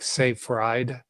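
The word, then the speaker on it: Seyfried: him everywhere Dr Thomas it's spelled SE y f r i d so like safe rde SE y r i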